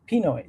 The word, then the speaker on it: Pinoy: And Filipinos have a term that we sometimes use to refer to ourselves, and that's Pinoy. So if you combine the two together, Chinese and Pinoy, it's Chinoy.